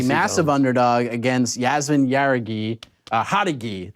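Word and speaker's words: Jauregui: Hadagi is how we pronounce it, actually.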